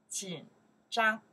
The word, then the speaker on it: 紧张: 紧张, one more time. 紧张, okay. 紧张, that's the character we pronounce 紧.